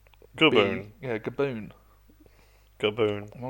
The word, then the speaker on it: Gaboon: snake um is a kaboon viper. A boom. A kaboon viper. How do you say that? Kaboon. How do you spell that? G A Gaboon.